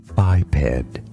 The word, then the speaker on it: biped: In English, this word is pronounced as biped. Stress on the first syllable.